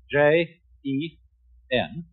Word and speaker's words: jen: Although, when we romanize this word in English, we spell it J-E-N. It's pronounced Jen. Sort of like rolling an R, or rather saying R, but not rolling it.